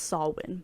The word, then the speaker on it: Samhain: It wasn't until after watching the movie that I realized Sam is actually named after Samhain, spelled Samhain, but it's pronounced Samhain, the pagan tradition that marks the end of the harvest season and the beginning of the colder months.